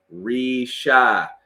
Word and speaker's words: Risha: is in the house Miss Risha everybody get the get the pronunciation of her name correctly re-shy trying to teach people